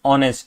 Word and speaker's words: honest: know although the word is H but the pronunciation is honest which is O right so yeah this is